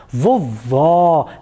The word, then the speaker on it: vovó: elas a primeira com acento agudo olha só vovó vejam que o timbre da vogal é mais